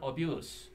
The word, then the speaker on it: abuse: 동사를 읽으면 abuse가 돼서 학대하다고 명사일 때는 abuse 이렇게 스발음을 읽어서 학대가 됩니다.